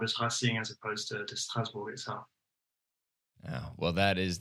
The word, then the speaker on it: Strasbourg: me how to pronounce Strasbourg's name. I mean, you're doing a pretty good job. I mean, Strasbourg is pretty much the French way of saying it.